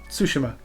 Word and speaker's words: Tsushima: was like that's funny but it's not pronounced tsushima it's pronounced tsushima because there's a t and an s and that's just how it's pronounced but then i sound